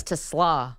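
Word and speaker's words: TeSlaa: I found out that I've been saying Isaac Tesla's name wrong all the time. Yeah, it's Tesla.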